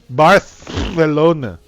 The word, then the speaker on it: Barcelona: 2019 in Barcelona bust but you have to pronounce it with us Barth Valona birth Valona sorry that was